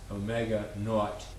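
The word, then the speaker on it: Ω₀: term which is called Omega Subzero which is pronounced Omega not and it's equal to as I said before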